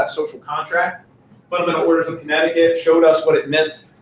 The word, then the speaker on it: Connecticut: how you spoke Connecticut yeah connected cut Connecticut is how it's pronounced alright so America's formal